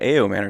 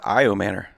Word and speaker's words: Ayomanor: respect on his name pronounce his name right guys it's not aom Manor it's iom Manor like the eye of the tiger look at that come